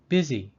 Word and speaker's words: busy: news Bush number five busy this word is the weirdest the U in busy makes the short I sound the symbol I am